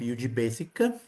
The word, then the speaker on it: ugBASIC: I am and I am the author of UG Basic. Um uh the first first of all the name should be pronounced as UG basic with a soft G.